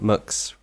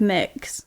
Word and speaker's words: Mx: a non-binary person um you use mx which is mux yeah there's a few different pronunciations most people go with mix it seems um but